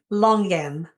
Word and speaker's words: longan: And that's how she pronounces it, longan. an emphasis on the G.